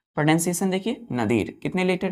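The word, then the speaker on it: nadir: क्या होता है बच्चों क्या पढ़ते हैं इसको नदीर प्रोनंसिएशन देखिए नदीर कितने लेटर है इसमें टूथ फर फ फाइव लेटर का एक वर्ड है नदीर नदीर का मतलब होता है बच्चों नितम क्या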